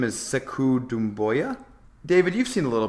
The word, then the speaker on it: Sekou Doumbouya: I think you pronounce his name as Sekou Doumbouya.